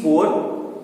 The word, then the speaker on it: pour: बोल रहा हूं, please पोर water in my glass, मतलब मेरे ग्लास में पानी भर दीजिए, ठीक है। तो उसे हम लोग कहते हैं पोर।